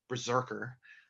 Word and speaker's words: BRZRKR: same character berserker um pronounced berserker like bazooka burke fans out there uh i'm